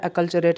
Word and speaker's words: acculturate: एक और सिनोनिम इसका होता है अकल्चरेट, आपने और सुन रखा होगा, अकल्चरेट, है ना, मैं बता देता हूँ, अकल, याद रखिएगा, पूछा गया है।